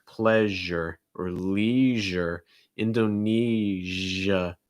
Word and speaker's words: Indonesia: pleasure or leisure indonesia to make that jo what you do is you kind of it's not the front of your tongue it's like the middle of your tongue so like right there that's the part that's going to make contact with the top of your mouth and then you should feel it make sure your throat's vibrating so it's not sh it's